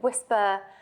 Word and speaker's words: WSPA: Some people call it WHISPER. They'd sort of pronounce the acronym.